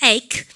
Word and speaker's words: ache: ache. 그러면 우리가 ache에 대해서도 선생님이 설명 좀 합니다. 우리가 일로 와볼까요? 우리가 이거 읽으실 때 어떻게 읽으셔야 됩니까? 에치하면 혼납니다. 아시죠? 그러면 다시 ache. 그죠? 이게 크 발음이고요.